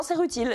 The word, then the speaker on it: Rutile: Non, c'est Rutile. C'est vraiment Rutile. Comme un truc qui est utile, justement.